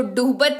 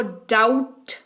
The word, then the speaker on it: doubt: बी दिख रहा है, तो क्या करेंगे? बी का उच्चारण नहीं करेंगे, इसको डूबत नहीं, इसको डाउट पढ़ेंगे। क्या पढ़ेंगे? डाउट पढ़ेंगे, डूबत नहीं।